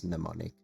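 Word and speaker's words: Mnemonic: Uh if you struggle to say it, the M in the front is silent, so it's pneummonic.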